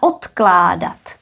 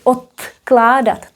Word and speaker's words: odkládat: Odložit a odkládat. Also very interesting point about the pronunciation. Odložit, here is d, odložit. Odložit. Whereas the next one is odkládat. Odkládat. Again because of the K.